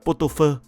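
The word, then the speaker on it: pot-au-feu: chế biến món thịt bò hầm của Pháp, đọc là Potopơ, kết hợp với các loại gia vị và rau thơm trong ẩm thực Việt Nam.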